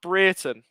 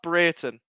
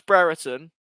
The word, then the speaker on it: Brereton: pick up the pieces for rovers it's actually pronounced britain it's pronounced breiten we all thought it was brereton but he corrected it i he said he